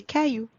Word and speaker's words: cailloux: And please do not pronounce the X at the end. Let's read those exceptions together. Un chou becomes des choux. Un bijou becomes des bijoux. Un caillou becomes des cailloux.